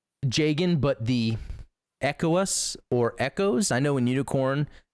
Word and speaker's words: ECOAS: I know in Unicorn in the dub they say ECOAS, but I have been corrected multiple occasions that it's Echoes. I don't know. That's news to me. I've not heard that pronunciation, but this is what's cool about this suit.